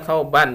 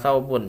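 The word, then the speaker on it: ثَوْبًا: Mahmud lebih maka disebut membacanya tsauban bukan sabun ya kauban lebih bahwa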